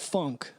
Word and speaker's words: Phonk: So, it's called funk, but it's spelled Phonk.